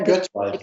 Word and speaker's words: Göttweig: Göttweig, I keep saying it wrong. Yeah, Göttweig is right. The pronunciation is right.